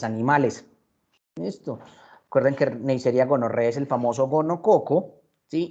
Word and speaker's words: gonorrhoeae: las cuales 2, Neisseria gonorrhoeae, mire que no se dice gonorrheae, sino gonorrhoeae. Todas estas 4 letras se pronuncian como una sola, como E.